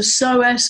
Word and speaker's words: psoas: that tension so there's a muscle called the psoas muscle it's spelt Pete SOAs the psoas muscle it's deep